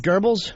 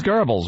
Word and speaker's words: Goebbels: It wasn't Hitler was Goebbels No, they have their name wrongly this says gobbles Was that hitler or gobbles?